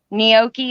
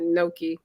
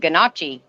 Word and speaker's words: gnocchi: say it i said ganache then me too somebody said huh well i said well how do you say that they said the g is silent i said kind of